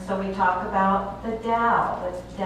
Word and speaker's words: Tao: It's kind of a funny word because it's spelled with a T, but we pronounce it as if it's a D. And so we talk about the Tao.